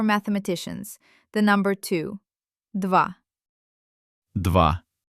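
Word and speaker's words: два: The number two dwa dva.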